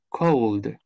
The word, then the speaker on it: called: Entonces, nos dice, si este verbo termina con un sonido que vibra, la pronunciación de su ED va a ser como la de una D.